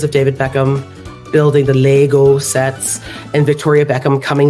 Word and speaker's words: Lego: It's Lego, right? It's not Lego. It's Lego. Okay, Danish. Second last syllable gets stretched.